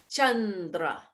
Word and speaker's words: Chandra: The letter C always tells us to go ch, as in Chandra.